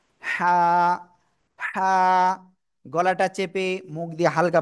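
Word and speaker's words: حاء: এই অক্ষরের নাম কি জানেন এই অক্ষরের নাম হলো হা গলাটা চেপে মুখ দিয়ে হালকা বাতাস বের করে এটা উচ্চারণ করতে হবে হা সবাই একসাথে জোরে জোরে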